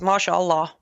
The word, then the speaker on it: mashallah: Mashallah.